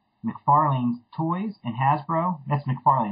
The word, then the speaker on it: McFarlane: That's McFarlane, right? I'm pronouncing that correct?